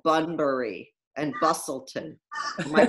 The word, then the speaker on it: Busselton: seaside places that they went, like Bunbury and Busselton. Am I pronouncing that right?